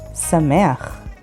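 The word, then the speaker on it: שמח: The word samech, which means happy, and spelled with sin, mem, chet. Sameach.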